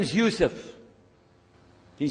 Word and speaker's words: Yusuf: ald my name is Yousef can you say Yousef said youf you're very good I wish You' teach my wife she keeps mispronouncing it she calls me useless alhamdulillah now how many of you were in